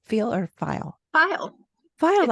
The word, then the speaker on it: Feil: live is that right feel or file file file okay yes exactly how do you how do you spell that it's spelled l which is